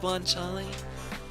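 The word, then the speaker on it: guanciale: It's not guanchal is is always it's pronounced guanchal.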